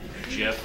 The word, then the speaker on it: GIF: I knew it was pronounced Jif this whole time.